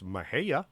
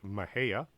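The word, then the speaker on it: Mexia: these places too badly i can pronounce mahaya which is spelled m-e-x-i-a pronounced mahea in july there was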